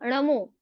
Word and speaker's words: णमो: परंतु हम बोल क्या देते हैं, नल वाला, जो नल वाला न होता है, हम वहां पर न के जगह न उच्चारण कर देते हैं, तो वो क्या हो जाएगा, अशुद्ध हो जाएगा। तो शुद्ध क्या होगा, णमो।